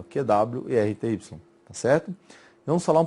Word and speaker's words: QWERTY: Algumas pessoas pronunciam, né, QWrite, mas aí são simplesmente as letras iniciais do teclado, ó, QWERTY, tá certo?